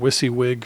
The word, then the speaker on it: WYSIWYG: This, we covered earlier, is a rich text field or WYSIWYG (pronounced wissy-wig) field, What You See Is What You Get, and most of the